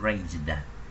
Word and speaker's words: raised: đây chúng ta thấy chữ raised, nhưng mà thấy phía trên nè chữ SED nè, mình tưởng đọc là tờ đúng không, nhưng mà khi phiên âm ra thằng raise này nó phiên âm là âm z, âm z, chữ raise là âm z, cho nên nó không phải là cái âm sờ như ở đây, do đó nó không được đọc là tờ mà đọc là đờ, nó là như vậy.